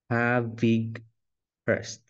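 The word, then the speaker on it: Havighurst: this is the guide it his name the pronunciation of his name is have big first okay have H so for those who do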